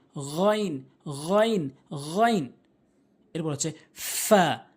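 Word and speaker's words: ف: এরপর হচ্ছে ফা, ফা, ফা, নিচের ঠোঁটের পেট, উপরের দাঁতগুলো নিচের ঠোঁটের পেট। ফা, ফা, ফা, ফা, এভাবে উচ্চারণ করবেন।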